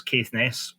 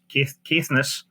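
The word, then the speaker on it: Caithness: to an area familiar to both of us Kess kiess as I should pronounce it um where Alexander did a lot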